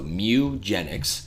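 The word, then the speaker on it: Mewgenics: game announcement no it's it's spelled like the Pokemon Mew so Mew genx is the next game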